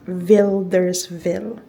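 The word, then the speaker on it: Wilderswil: ofildersville W ang spelling niya but it is pronounced as Vilders Ville.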